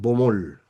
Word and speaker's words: Baumol: se llama o se llamó, perdón, William Bomol. Baumol se escribe.